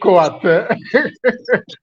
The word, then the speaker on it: Koate: It's actually Koate. Koete. Koate. Koate. Okay, all right, that's good. So if I'm allowed to spell my name the way it is, it's a Ko-A-T-E.